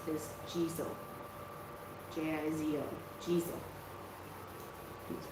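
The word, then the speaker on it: Jizō: It's Sitigarba, or in Japanese, what I find easier to pronounce is Jizo.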